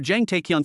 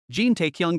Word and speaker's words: Jin Taekyung: You're Jang Taekyung from Peace Guild, right? It's Jin Taekyung, he corrected. Chang Su mispronounced it again. Jin Taekyung got annoyed.